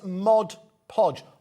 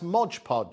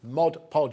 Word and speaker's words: Mod Podge: website as quickly as you can this is mod podge often mispronounced as modge podge i've called it modupodge for years there we go mod podge is officially what it's called comes with a